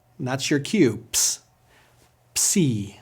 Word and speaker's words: Psi: Psi. Psi has a compound sound using both P and S.